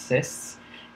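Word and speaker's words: cis: called the cyst face c i s pronounced cysts and also a transf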